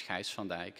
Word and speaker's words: Gijs van Dijck: this is my name it's unpronounceable in english it's actually better in czech so it's heist van dyke and if you don't